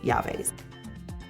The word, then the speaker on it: llaves: When you see a word like this and you see 2 L's together at the beginning of the word, those 2 L's are actually pronounced as a Y. So we changed that 2 L's to sound like a Y. So the word is llaves.